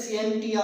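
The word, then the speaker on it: scientia: इसको हम प्रोनाउंसिएट करते हैं सिएंटिया से।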